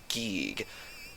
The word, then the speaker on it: Giegue: However, the original Japanese name of this character is in fact pronounced Giegue. And yes, this is the same character as Giegus in EarthBound for the Super Nintendo. I always pronounce it with E instead of I because that is how the original Japanese version is pronounced.